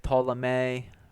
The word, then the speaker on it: Ptolemy: in psychology and then in greek there's solamay ptolemy right where the p is not necessarily uh pronounced right how we